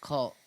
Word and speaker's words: CVLT: He immersed himself in online communities like CVLT, pronounced cult on Discord, learning extortion tactics.